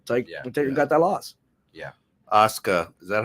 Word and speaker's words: Asuka: Asuka. Is that how you say that? Yeah. Asuka.